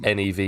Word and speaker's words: Niamh: What about Neve? How'd you spell Neve, Rob? I know this because NIAMH. Oh. I do know a Neve that is just like NEVE, I think.